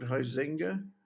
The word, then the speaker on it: Huizinga: By somebody called Huizinga.